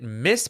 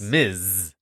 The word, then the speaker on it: Ms: on Disney plus okay is it Miss Marvel or M Marvel Miss it's Miz Miss what is the MS m Miz oh miss is Ms Miz is Ms period Miz did I say it wrong yeah oh Miz Marvel Miz I didn't know there was a difference hit it with that